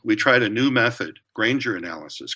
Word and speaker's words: Granger: tried a new method grainger analysis granger rhymes with strangers so grainger analysis to analyze the